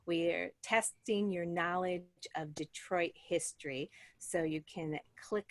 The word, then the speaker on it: Detroit: And of course, like many things, we have started to pronounce it a little bit differently. Instead of Detroit, now it's Detroit.